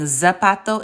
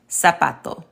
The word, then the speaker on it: zapato: we just learned how the Z sounds like the American S. So that was words like, instead of saying zapato, it is zapato.